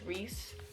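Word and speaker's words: Rhys: it's family issues and it's spelled rhy but I believe it's pronounced Reese they have the cutest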